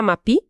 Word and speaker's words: MAPI: Ele é bem conhecido, né, por ser o coordenador mundial do MAPI, que olha, se pronuncia MAPI, certo?